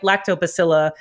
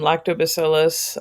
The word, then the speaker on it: lactobacillus: with some with like lactobacilla um is that the proper pronunciation lactobacilla fermentation or um or lacto fermentation well you can say lactic acid fermentation or um lactobacillus uh okay yeah with